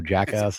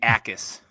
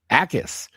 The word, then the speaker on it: Jacas: be Zion Young versus Gabe Jacas, I believe is how you say the name, although Jackass is a lot more fun. It's actually Akis. Akis. Okay, just completely silent. Silent J.